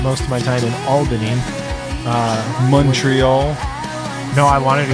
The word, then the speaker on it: Albany: was staying which I've been told is not pronounced Alvin II 115 times I said Alvin II and I made New Yorkers everywhere cringe no it's Albany you have to say Albany it's Albany okay